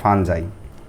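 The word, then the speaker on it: fungi: ছাতা ছত্রাক বা ফাঞ্জাই বা অনেকে যে যেটা বলেন এটা হচ্ছে উচ্চারণটা এই যে ফাঞ্জাই আদা কোন ধরনের কান্ড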